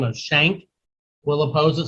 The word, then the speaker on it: Schenck: Also a man by the name of Schenck will oppose it. Some people pronounce it Schink, I think, or Skank, or whatever.